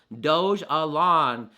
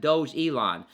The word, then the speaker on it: Dogelon: in my notes here doge alone not um not doge elon because of the word